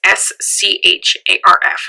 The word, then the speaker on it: Scharf: So, in June 2011, Detective Jim Scharf, hopefully I'm saying that right, it's S-C-H-A-R-F, so Scharf, at least that's what I presume it's pronounced as.